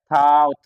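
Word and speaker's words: thought: थाउट जी ये हटेगा अब पढ़ना है थाउट यहां जी थाउट जी एच साइलेंट है थाउट हो गया इस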